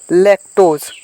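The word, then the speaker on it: lactose: पढ़ते हैं, ठीक है, तो इसको पूरा पढ़ेंगे लैक्टोज, ठीक है, लैक्टोज, इसे ए वाला मात्रा नहीं देना है, ठीक है, आपको इसके सिंगल वाला मात्रा ही देना है, ठीक है।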